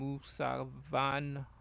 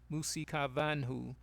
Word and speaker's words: Musikavanhu: However, there is no direct communication between the living and Musavanhu. Musikava, let me pronounce that right. Musikavanhu, but through ancestors.